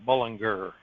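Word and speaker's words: Bullinger: as Dr werewell learned his name was actually pronounced in his lifetime Binger instead of jur plea let's see it's alphabetical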